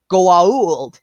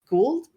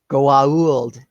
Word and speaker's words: Goa'uld: There are people who say, then immediately correct, Goa'uld. It's a whole joke in the series itself about the pronunciation on that.